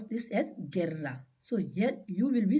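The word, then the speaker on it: guerra: will pronounce this as Gerra so yeah you will be silent why you is silent because U is coming between G and E so U will be silent and we pronounce is Gerra G now the letter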